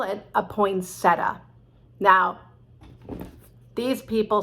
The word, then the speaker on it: poinsettia: comes out at christmas we call it a poinsettia now these people say call it poinsettia but it's just too late we're not going